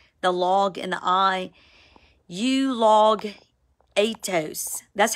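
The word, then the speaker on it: εὐλογητός: voices Matthew 7 The Log and the I you log atos that's how it's pronounced you log at toast you gone you eaten you are devoured y'all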